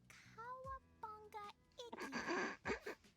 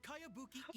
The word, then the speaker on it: Kayabuki Iki: By Kawabunga Iki. Yoimiya, this is a really. Who's this Kawabunga? It's pronounced Kayabuki Iki.